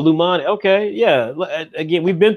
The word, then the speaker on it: Lajani: It's Lumani. Just imagine the J is silent. Oh, Lumani.